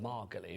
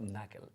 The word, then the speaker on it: Magali: Before I was like Margali, wasn't I? I was making you sound all posh, but Magali. No, not Magali as in Magaluf.